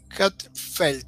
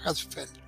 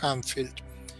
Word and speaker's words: Hatzfeld: La cosa es que en este estado Hatzfeld se llama, Hatzfeld. Yo siempre lo he dicho Hanfield, lo pronuncio mal como siempre, pero bueno, no importa, es mi pronunciación argentina del cono sur, Ganfield.